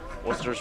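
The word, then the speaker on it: Wooster: That is actually pronounced Worcester, even though it's W-O-O-S-T-E-R.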